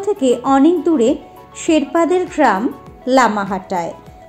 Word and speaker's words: লামাহাটা: অনেক দূরে শেরপাদের গ্রাম লামাহাটায় যার স্থানীয় উচ্চারণ লামাট্টা জায়গাটা মনে পড়ছে তুমি